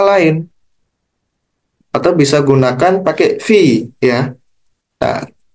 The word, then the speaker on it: phi: atau bisa gunakan pakai v ya Nah kalau kalian pahami ini bacanya V tulisannya bagaimana tulisannya adalah phi oke ya phi simbolnya seperti